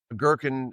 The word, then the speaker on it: Goergen: Girkin is the way that you pronounce his last name.